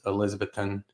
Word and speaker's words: Elizabethton: I believe it was Elizabethton, I think that's how you say it.